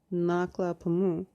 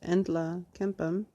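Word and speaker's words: Nlaka'pamux: I read Naklapamu, but it's pronounced Entla Kempam, gathered in the valley every fall around the towering guardian pine tree to socialize and dance.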